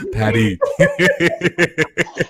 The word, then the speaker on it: Paris: Patty. Like I know he doesn't pronounce the S.